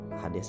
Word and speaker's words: Hades: Dan dalam pelafalannya Hades ya, Hades ya kan, pelafalannya Hades.